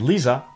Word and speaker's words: Liisa: Freezer in North American English is Frieza in Cocknney English and Liisa rhymes with Frieza.